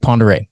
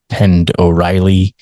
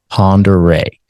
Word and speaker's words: Pend Oreille: before who called it Pend Oreille. It's a French word, P-E-N-D space O''Reille. Pend Oreille.